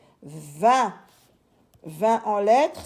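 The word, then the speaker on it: vingt: n V i n G qui est une lettre muette et le T qui est une lettre muette également 20 20 en lettre s'écrit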